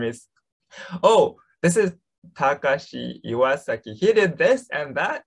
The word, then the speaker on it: Takashi Iwasaki: It's pronounced Takashi Iwasaki.